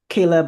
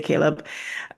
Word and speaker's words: Caleb: So their first names are both Hebrew, so Ezra, and Caleb or Caleb, depending how you pronounce it, but we say Caleb.